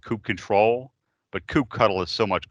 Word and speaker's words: kubectl: It's actually pronounced kube control, but kubectl is so much cooler, and they made unicorn stickers, so you can't really fight that.